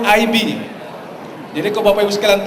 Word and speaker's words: iB: salam sejahtera bagi bapak ibu semua senang sekali saya hadir di sini Saya dari Bank Indonesia tadi moderator menyebutkan ide Sebenarnya bukan IB Tapi bacanya Aibi Jadi kau Bapak Ibu